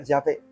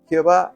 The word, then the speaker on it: Yahvé: Eh, la forma más eh correcta sería Yahvé. Jehová no, aunque prevaleció más en las Biblias, indica de parte de